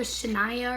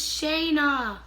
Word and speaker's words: Shayna: So back to Shania or Shania B. It's Shayna. Oh, see, it has the pronunciation right there, Shayna.